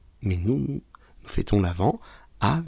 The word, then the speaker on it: l'Avent: à cause de l'homonymie l'avant et avant ça se prononce pareil mais ça ne s'écrit pas pareil avant Noël à a V a S mais nous nous fêtons l'avant a V e n